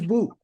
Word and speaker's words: BOUP: say but it's boot which rhymes with soup and you know what